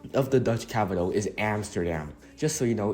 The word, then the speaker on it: Amsterdam: you pronounced was incorrect so the actual correct pronunciation of the Dutch capital is Amsterdam just so you know it's Amsterdam what is such climate like the Netherlands enjoy